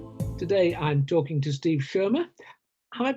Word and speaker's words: Schirmer: Today I'm talking to Steve Schirmer. Have I pronounced your surname right, Steve?